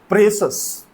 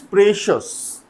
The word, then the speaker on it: precious: Then precious. It is precious. ये precious नहीं है, ये है precious.